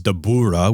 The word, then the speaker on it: Dabura: yep yep and and in the Funimation dub it's dabura with the emphasis on the ooh which okay it's a